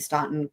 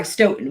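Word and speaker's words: Stoughton: s cell inside the ston courthouse um wait sorry Stoten why did I say ston Sten I'm it's like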